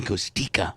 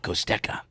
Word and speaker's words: Costika: Finally, Seth took me aside and said, you know, it's Costika, not Costeka.